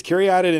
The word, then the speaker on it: Caryatid: It's Caryatid and it's a little weird, but that is how it's pronounced.